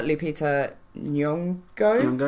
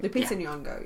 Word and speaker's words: Lupita Nyong'o: Starring Oscar winner Lupita Nyong'o. Fucking love her. I did pronounce that right. Lupita Nyong'o, yeah.